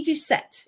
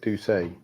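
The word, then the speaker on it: Doucet: I think it's I' I'd always pronounce it Ducay. Ducet. Okay. My French background. It might it might be Ducet because she's American and they pronounce stuff weird.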